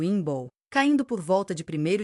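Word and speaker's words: Imbolc: Inboke pronunciado Inball, caindo por volta de primeiro de fevereiro, marcou essa transição.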